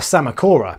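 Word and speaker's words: Psammocora: keep SBS coral the sama Cora which unlike a drunk man outside a kebab house has a silent P this encrusting corals in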